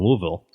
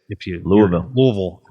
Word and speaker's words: Louisville: So he'd just come there from, I think he came there from Louisville. And that's how you say it. Louisville.